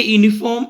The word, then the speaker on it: uniform: Mummy bought a uniform at the shop. Dear students, here this U is the vowel, but here the sound of U is YU, and Y is what?